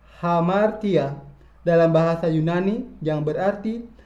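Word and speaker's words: ἁμαρτία: Kata dosa diucapkan hamartia dalam bahasa Yunani yang berarti meleset dari target.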